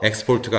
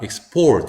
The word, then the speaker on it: export: 요게 동사일 때는 똑같은 단어인데 동사라면 액센트가 뒤로 가죠. 이렇게 갑니다. 그러면 요거는 어떻게 발음되냐면 X가 아니고요. 이렇게 야금인 어나 이 같은 경우에는 이제 이로 발음되는 경우가 많아요. 약한 발음이. 그래서 export가 아니라 export 이렇게 강세도 살리고 발음도 달라집니다.